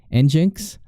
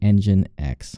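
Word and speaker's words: nginx: stats I found our engine X and some people will actually pronounce it in jinks according to their website it's actually engine X okay and then one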